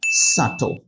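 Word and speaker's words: subtle: উচ্চারণটা আপনাকে শিখে ফেলতে হবে আই মিন এটার প্রোনাউন্সিয়েশনটা হচ্ছে সাত তার মানে স্পেলিং এবং প্রোনাউন্সিয়েশন দুইটাই জানতে হবে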